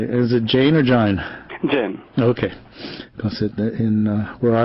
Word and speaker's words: Jain: Jain. Okay, because in where I was in India, it was pronounced either way.